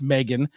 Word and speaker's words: M3GAN: it again but uh Meg which is with the three uh pronounced Megan is a 2022 American